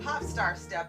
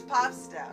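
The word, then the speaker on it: Pop☆Step: And you've got Pop Star Step. And I know you're not supposed to pronounce the star, but it's Pop Step.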